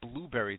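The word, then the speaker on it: Blubrry: hear our interviews on I think it's pronounced I always want to call it blueberry.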